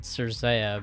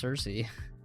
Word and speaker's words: Cersei: I would have said Cersei, but I guess the name is pronounced Cersei.